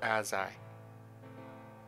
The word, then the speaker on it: Azai: Yep, Aziz is right. The hat is to distract from the lack of thumbs. It's Azai. His name is pronounced Azai.